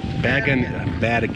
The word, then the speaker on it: Bergen: So, and it's going until, well, it'll be closed by the time you get here, but it's Bergenfest, but it's Bergen. Bergen is the correct pronunciation.